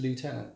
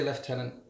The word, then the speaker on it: lieutenant: them lieutenant lieutenant lieutenant so in America it is lieutenant in England it is left-handed so when I say left tenant I get two or three comments from the Americans saying you said it wrong and when I say